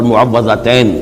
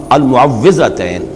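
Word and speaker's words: المعوِّذتين: عام طور پر معوذتین یہ غلط العام میں اس کا نام مشہور ہو گیا ہے، لیکن اصل میں المعوذتین واو کے زیر کے ساتھ.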